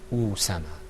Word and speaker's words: Usama: Because if it wasn't a dhamma and it was a kasra, we'd pronounce it Isama. Okay. All right, how would it sound if it had a fatha on it? Asama. Okay, very good. And it's Usama.